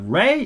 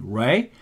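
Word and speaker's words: 礼: it means bow but Ray is expels REI right but Japanese people cannot hear the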